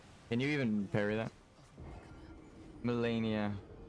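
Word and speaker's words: Malenia: you even Parry that melenia she pronounces the E like an a I mean it's her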